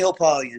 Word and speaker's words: Hopalian: I'll spell it for you. It's Bernie_HOPALIAN. Hopalien. Got you. Facebook the same? Facebook Hopalien.